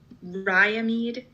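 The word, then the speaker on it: Riamede: And how do you actually pronounce that farm? Ryamede Farm Ryamede here in Farms.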